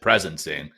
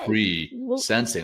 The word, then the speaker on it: presensing: I said presencing instead of pre sensing.